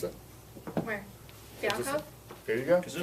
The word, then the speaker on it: Fialkov: Pronounce it? Where? Fialkov? There you go. Kazoo. Fialkov.